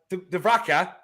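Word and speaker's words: Dúbravka: Dvraka.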